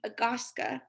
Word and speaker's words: agaska: character having a single consonant the s sound here as heard in my name agaska one of the things